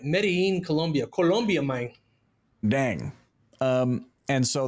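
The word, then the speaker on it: Medellín: Medellin, Colombia, mine.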